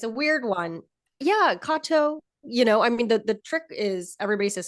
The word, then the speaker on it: Katow: when but it is it is a Japanese last name that's Kato um and yeah so